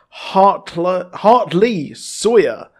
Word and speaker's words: Hartley Sawyer: We will be getting the Flash for Elongated Man, and Elongated Man Ralph Dibny will be played by Hartley Sawyer. That's how you pronounce his name.